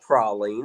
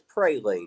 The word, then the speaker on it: praline: It is not prolene. It's praline.